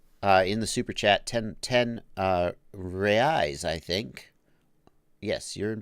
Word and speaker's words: reais: MC's Creations wants to know in the super chat 10 reais, I think.